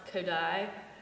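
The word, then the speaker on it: Kodály: close our concert with um I know it's pronounced kodai but it's zoldan zultan koday in my mind ah zultan kodai we'll we'll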